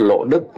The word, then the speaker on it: Lộ Đức: Tuy nhiên, ngay cả vô số giáo dân không phải ai cũng biết Lộ Đức là cách phát âm Hán Việt của từ luộc.